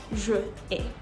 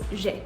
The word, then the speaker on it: j'ai: It is incorrect to write or to say je ai. It's always j'ai.